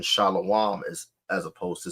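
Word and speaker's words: שלום: When we look at the phrase Shalom versus Shalawam, Shalom is how the word that means peace in Hebrew is vocalized in the modern vocalization, right? And it differs from how we pronounce it as Shalawam, right?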